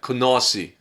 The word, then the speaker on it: Canarsie: want to live in canarsie because it sounded like no you you got to say it right konnosi i actually said it